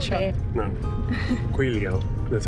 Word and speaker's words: Guizhou: Guizhou, that's how they say it.